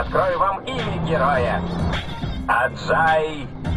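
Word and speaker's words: Ajay: я открою вам героя аджай это правильно произносится чем не начнет я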